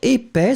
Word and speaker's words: épais: Épais, so masculine form, remember, E accent aigu, P-A-I-S. Final S not pronounced.